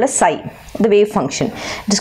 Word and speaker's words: psi: this is called a psi, the wave function. It is called as PSI. Okay, psi. Fine. P is silent.